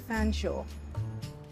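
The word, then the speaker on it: Featherstonehaugh: name was Jane and Shaw is how you pronounce the end of fan Shaw why in the world would you pronounce something spelled feather Stone ha fsha I'm sorry that's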